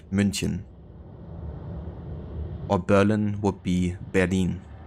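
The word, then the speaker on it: München: written differently in English for example Munich is actually called munchin or Berlin would be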